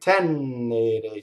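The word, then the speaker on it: tenere: So I hear a lot of times people double this N, and it's wrong, right? Tɛnere. So remember from the first word, Frondi, this one is doubled because you hold the N in phonation. Now, if I were to hold the N in phonation in tɛnere, that would happen, you see? Double N. That's wrong. Tɛnere.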